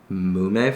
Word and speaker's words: Mume: So now I got this ume chipotle sauce, which we got from Japantown from, I believe it's pronounced Mume Farms, which is M-U-M-E Farms.